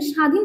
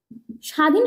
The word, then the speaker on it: স্বাধীন: আমরা দেখেন স্বাধীন শব্দটা লিখি, স্বাধীন শব্দটা লিখছি এবং বলছি এই বটা কিন্তু কখনো উচ্চারণ করছি না, এই বটা কিন্তু একটা ব ফলা।